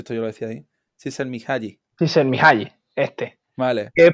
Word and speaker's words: Csikszentmihalyi: o Mialai, sí, es que es imposible de pronunciar, Venga, Csikszentmihalyi. ah, Sí, joder, pero si esto yo lo decía ahí. Csikszentmihalyi.